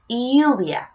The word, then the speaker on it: lluvia: Rain is lluvia. Lluvia. Just remember the double L, it sounds like a Y, okay? Right, next one is cloud. Cloud, we say nubes. Nubes. Okay, so we have sol, lluvia, nubes.